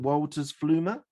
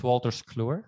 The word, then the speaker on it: Wolters Kluwer: Your first major role was as an IT consultant is it Wouters Flumer? Is that bad pronunciation? No, so I, yeah, it's Wolters Kluwer, and at the time we were not called that.